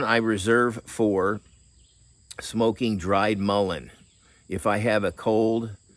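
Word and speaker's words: mullein: should say Maline or Meine um but it's pronounced Mullen but you dry those leaves and um I just buy mine already dry but Mullen is everywhere uh but anyway that's what I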